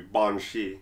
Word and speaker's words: banshee: think bong cheese or banshees I am cheese home he's Irish so he gets to pronunciation ah well the actual pronunciation would be bong Shi right that's why but